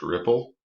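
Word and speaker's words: Replit: development environment um so r e p l dot ip uh that's pronounced ripple and this ide knows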